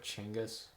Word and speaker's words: Chinggis: Chinggis.